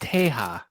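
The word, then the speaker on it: Tejas: in texas right now it's pronounced teja yeah but dude are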